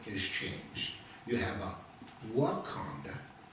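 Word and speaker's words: Wakonda: If you'll go to Wonda State Park today, they spell it W A K O N D A.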